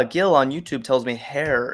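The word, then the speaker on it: Herr: Ah, Gil on YouTube tells me hair is how you say mister in German.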